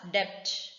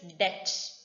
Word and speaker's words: debt: Next is, I'm sure many used to say this word as debt. No, it is debt. D-E-T. B is silent.